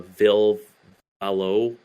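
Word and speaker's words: Ville Valo: think uh let's see uh the new uh Vil valow that's how you say his name uh but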